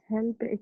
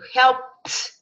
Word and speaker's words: helped: Helped. From P, go straight to t. Help it. Help it. Help it. No, you put sound there. No sound. No sound comes out of our mouth.